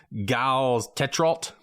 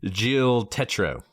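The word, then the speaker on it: Gilles Tetreault: listen to Dart Boutine because it looks like G Tet. That is not how you pronounce his name. His name is Jill Tetro.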